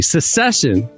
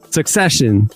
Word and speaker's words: Succession: Secession. Succession. The HBO show spelled like success but secession uh became